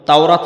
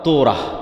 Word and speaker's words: তাওরাত: মুসা আলাইহি সালাতুওস সালামের কওমকে যখন তাওরাত দেওয়া হল তোরা। ইহুদিরা উচ্চারণ করে যে তোরা যখন তাওরাত দেওয়া হল